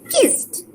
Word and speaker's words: kissed: So always this t, there is a t sound which is kissed, t, and killed.